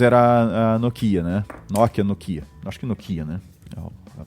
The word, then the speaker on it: Nokia: Então no caso era a Nokia né Nokia Nokia nocho que Nokia né a pronúncia correta E aí o que que que